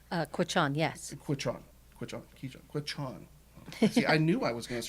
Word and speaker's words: Quechan: Taylor's ancestry, now we got it here, is part Keeshon, Czechoslovakian, Austrian, and German, correct? Quechan, yes.